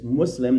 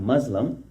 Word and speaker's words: Muslim: A Muslim, correct pronunciation is Muslim, not Muslim, is one who has surrendered and found inner meaning in that surrender.